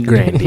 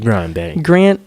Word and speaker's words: Grande: I was today years old when I found out that it was Grandy right. instead of Grande. I think it's Grandy, not Grande. It's Grandy. Yeah, Grandy.